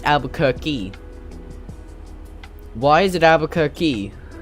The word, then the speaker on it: Albuquerque: Apparently, it's I always pronounce that place as Albuquerque, but apparently it's Albuquerque. Why is it Albuquerque? Like, there's no K-E-Y on the end of it.